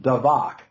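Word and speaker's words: דבק: It's the word, it's pronounced davak in Hebrew. Davak.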